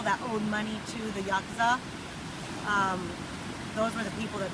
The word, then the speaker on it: Yakuza: Now, how do you pronounce the mob over there? Yakuza. Yakuza.